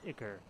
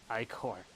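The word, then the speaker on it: ichor: topple chalice I can fill it with magical occur that's pronounced oh yeah i corps hike or not occur choose your i corps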